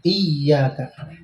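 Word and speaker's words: إياك: Kalau kita baca tanpa tasdid iyyaka itu artinya dhawus syams, cahaya matahari. Beda ya. Jadi bacanya ditekan iyyaka.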